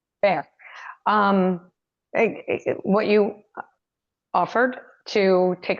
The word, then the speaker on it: Fayre: Fair. Fayre.